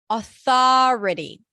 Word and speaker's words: authority: Then we have authority. Now, there are different pronunciations here depending on the dialect, but I'm going to teach you the way I teach it inside of New Sound with an ah sound.